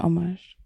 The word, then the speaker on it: homage: Oh, you do pronounce it homage.